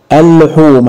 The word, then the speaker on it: اللحوم: الحرف اللي بعديها مشدد يبقى اللام الشمسيه تكتب ولا تنطق اللحوم هتقول لي لا اللي اتنطقت اللي هي اللام الثانيه اللي هي المشدده اللحوم وعشان كده لو قلنا